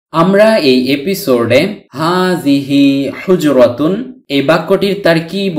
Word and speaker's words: حجرة: হারাকাতুন উচ্চারিত না হলে এই গুলতাটি বাংলার হ বর্ণের উচ্চারণ দেয়, তাই হুজরা উচ্চারণ করেছি।